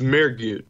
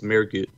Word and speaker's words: Mehrguth: It's Mehrguth. So the H is silent because it's a German last name, so it's Mehrguth.